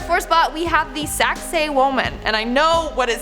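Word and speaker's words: Sacsayhuamán: yet in our fourth spot we have the saxe woman and i know what it sounds like but that's how you pronounce it so just i know i know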